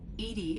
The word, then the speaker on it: EDI: EDI is the phonetic pronunciation of EDI. That is an acronym for Enhanced Defense Intelligence.